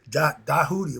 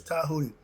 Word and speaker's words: Tahuti: Some people say Dahuti or whatever. No, it's Tahuti.